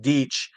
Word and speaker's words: Deutsch: It's pronounced Deitch, but it looks like how the Germans spell Deutschland.